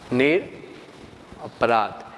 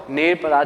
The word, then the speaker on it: निरपराध: निरपराध, यहाँ पर र के पीछे अ छिपा हुआ होता है, इसलिए आप उसको निरपराध भी, बोलने में अ का उच्चारण होता है लेकिन लिखने में नहीं आएगा, तो निरपराध भी आप बोल सकते हैं।